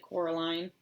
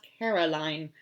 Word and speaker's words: Coraline: "No," said Coraline. The old man shrugged. "They are funny, the mice. They get things wrong. They got your name wrong, you know. They kept saying Coraline, not Caroline, not Caroline at all."